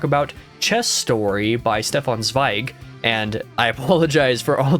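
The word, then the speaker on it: Zweig: about the fact that EI in German is an i sound and not you know z z was how I kept on pronouncing the last name before' why did you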